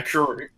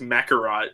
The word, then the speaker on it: McCurry: McCurry. You're what? McCurry. McCurry. Because I can never say your last name right. You can say it right. You just don't. For some reason, I read as Macarot.